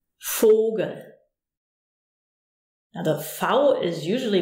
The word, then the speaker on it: Vogel: But most of the time, it's a F, as in Vogel.